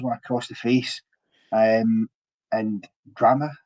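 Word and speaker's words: Drammeh: And Drameh, I think is how you say his name, Drameh, is it?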